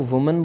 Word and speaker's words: woman: MAN की जगह पे, लेकिन जो प्रोनाउंसिएशन है वो बदल जाएगी। इसको वुमन बोलेंगे, वुमन मतलब एक औरत, एक महिला, और विमेन मतलब महिलाएं जिन्हें, मतलब इसका प्लूरलाइज फॉर्म।